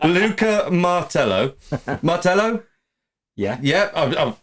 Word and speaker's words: Martello: Martello? Yeah. Yeah, I've pronounced it right.